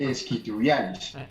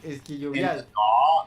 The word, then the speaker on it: isquiotibiales: Esa vaina se dice isquiotibiales. Esquillovial. Y los isquiotibiales. Ah, Esa- ok, los isquiotibiales. Los isquiotibiales, Isquiotibiales. Es que Alcaraz tuvo un problema en los isquiotibiales claro.